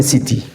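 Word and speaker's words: city: اي وانا قيل لك السي لو جه وراها اي او اي او واي بتتنطق سي تبقى سيتي وعلى الامريكان اكسنت تبقى سيدي سيدي لان هم لهم نطق كده التي ساعات بيدوها صوت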